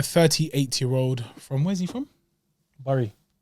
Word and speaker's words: Bury: Bury. It's not Bury, blood. Man said Bury. Bury. Bury.